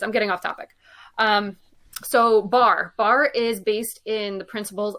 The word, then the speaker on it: Barre: town in Massachusetts called Barry, and it's spelled the same. Is it? Yep. Do you say this the same way? No, it's Bar. It is okay. Bar. Barre.